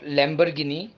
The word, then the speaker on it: Lamborghini: a famous car the spellings go like this l-a-m-b-o-r-g-h-i-n-i not lamborghini lamborghini lamborghini lamborghini the third one is p-o-r-s-h-e